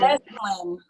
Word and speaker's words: Esalen: Esalen. Esalen Institute's in Big Sur, California. Yeah, it's Esalen.